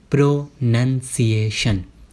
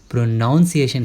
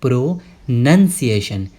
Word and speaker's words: pronunciation: बहुत सारे लोग इसे प्रोनाउंसिएशन कहते हैं, लेकिन आपको उसकी स्पेलिंग पे ध्यान देना है। उसकी स्पेलिंग क्या है? PRONUNCIATION। आप देखो यहाँ पे NUN लिखा है, NOUN नहीं लिखा हुआ है, इसीलिए हम इसे बोलेंगे प्रोनंसिएशन। क्या बोलोगे आप?